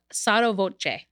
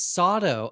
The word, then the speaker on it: sotto voce: How did you pronounce it? It's sotto voce. Oh, that's the full. Got thing. it. Oh, okay, yeah. Oh, I always thought it's Soto.